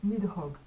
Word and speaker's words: Nidhogg: Oh, je sais plus comment ça se prononce. Nidhogg.